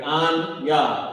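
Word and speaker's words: אני: Anya is how you say I in Hebrew.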